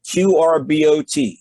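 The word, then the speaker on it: QRbot: the top of the screen type this word q-r-b-o-t it's pronounced qr bot and tap the search button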